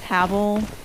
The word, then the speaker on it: Havel: Yeah, I tried going the other way and dealing with Havel.